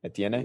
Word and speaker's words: Etienne: up between Najee Harris and how do you pronounce his name? Travis Etienne? Etienne. Yeah. Etienne.